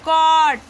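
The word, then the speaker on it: caught: यहाँ पे देखिए AU है तो AU का साउंड यहाँ आ आया है और GH जो है साइलेंट हो है यहाँ पे, तो यहाँ हो जाएगा कॉट, ठीक है, कॉट।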